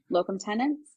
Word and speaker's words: locum tenens: I've had a few physicians that were just like locum tenens.